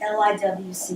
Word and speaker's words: LIWC: L-I-W-C is pronounced LIWC. I'm not quite sure why, but that's what they say.